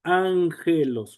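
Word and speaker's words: ἄγγελος: Por ejemplo, aquí tenemos dos gamas continuas y ya vimos que se pronuncia ángelos.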